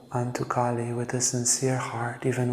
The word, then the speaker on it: Kali: One is Kali, so the goddess, cosmic power, Kali, which is with a big A, long A.